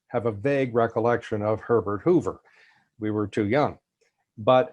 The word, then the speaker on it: Herbert Hoover: dressed in evening clothes introducing the chief executive hubert hever it's actually pronounced herbert hoover